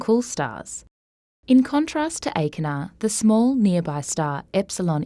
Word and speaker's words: Achernar: For example, the luminosity of the star Achernar (pronounced ay-ker-naar) is about 3,150 solar luminosities.